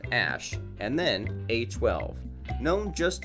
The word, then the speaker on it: Æ: It would be interesting to know that the boy got a very interesting name, pronounced the letter X, and then the AE is like pronounced Ash, and then A12, known just as X.